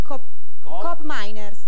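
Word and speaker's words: Koopmeiners: L'Olandese che inizia con la k come si pronuncia eh intendi Coop miners Brava ragazzi prova superata ragazzi il croato pa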